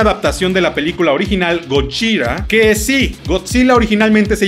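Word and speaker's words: ゴジラ: llamaba Gojira, y sí, allá los orientales le decían Gojira, y por alguna razón cuando se pasó a Estados Unidos, la gente le empezó a decir Godzilla. Supongo que no podían pronunciar Gojira.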